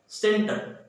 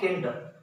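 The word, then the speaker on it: center: तो देखिए, अगर सी के बाद ई है तो this is soft sound will produce and this will be pronounced as सेंटर, नॉट केंटर।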